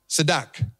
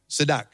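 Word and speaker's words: צדק: So in Hebrew, the word righteousness is tzedakah, tzedak, T-Z-I-D-A-Q, tzedak. That's how you pronounce it, tzedak.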